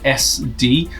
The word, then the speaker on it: ESDDI: look great so the company called SD which is spelled es DDI they got in touch